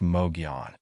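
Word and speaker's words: Mogollon: The Mogalon monster, pronounced Moion.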